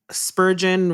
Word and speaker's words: Spurgeon: Spurgeon rhymes with virgin and sturgeon, for coming on the Working Writer podcast.